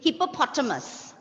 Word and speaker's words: hippopotamus: It's hippopotamus. Okay. Hippopotamus. Hippopotamus, because in Malayalam, when you write, it is hippopotamus, right? So that ta syllable should not be highlighted here.